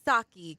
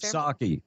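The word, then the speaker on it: Psaki: yeah and it's Jen saki Kevin like the drink says a text saki I'm sorry yeah the p is silent I I can I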